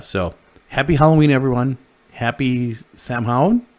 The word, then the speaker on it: Samhain: happy halloween everyone happy samhain i could never pronounce it right so i say champagne but it's not it's sound um but i